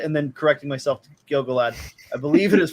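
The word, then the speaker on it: Gil-galad: shots of gilgalad i i i keep saying gilgallid and then correcting myself to gilgalad i believe it is pronounced gilgalad um because we have this one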